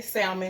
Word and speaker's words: salmon: I'm not going to say salmon because I don't want y'all trying to get me together in the comments. I know it's salmon. The L is silent.